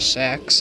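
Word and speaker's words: CeX: Look, there's a CE X or a Sax as they call it in the ads. I think that's a great way to pronounce it. Sacks and little Oh, there's a big monument thing up there.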